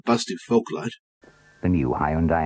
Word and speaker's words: Hyundai: more so here's one for hyundai or hyundai to use the traditional uk pronunciation deployed here by simon